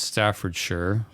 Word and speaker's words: Staffordshire: Yeah, so it's pronounced Staffordshire.